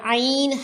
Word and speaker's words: عین: واضح فرق ہونا چاہیے۔ حمزہ حمزہ حمزہ گلے کے سب سے گہرے حصے سے اور عین حلق کے درمیانی حصے سے بولا جاتا ہے۔ اللہ کے نام سے